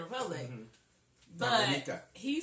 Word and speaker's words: Dominica: And there's Remy from Dominica, yes. Is how he pronounced it. We would say Dominica because Dominican Republic. But Dominica.